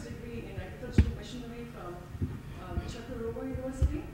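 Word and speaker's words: Çukurova: Kacira has a bachelor's degree in agricultural machinery from Chukarova University. I was going to say Kukarova, but it's actually Chukarova University, Turkey.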